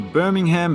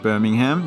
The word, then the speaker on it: Birmingham: Regions Field, home of the Birmingham Barons. I think it's pronounced Birmingham, not Birmingham, like in England.